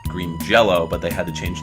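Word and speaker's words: Green Jellö: jelly right uh which is they're actually called Green Jello but they had to change their name due to licensing it's still actually called Green Jello yeah they put the umlaut over the Y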